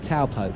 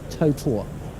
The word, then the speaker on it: Taupo: went past Lake now I've always called it Lake taupo but it's not pronounced there I think it's Lake totor and it's a massive